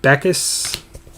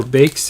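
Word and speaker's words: Backes: Carey Price Nate Smith David beckus or bakes if you if the C is silent is another Artem Carl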